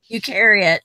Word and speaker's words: eukaryote: talked about this salad I know I'm gonna pronounce it wrong but it's you karate core you critic sell you out eukaryote yeah carry it thank you thank you that